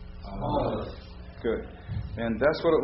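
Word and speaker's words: א: So we're going to use the modern Hebrew way of pronouncing and doing the alphabet. So the first letter is Aleph. So I'll say Aleph, and you say it after me. Aleph. Aleph.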